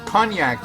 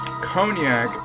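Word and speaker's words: konjac: Well, it uses these things called cognac noodles. I believe it's actually pronounced cognac, but they're not boozy.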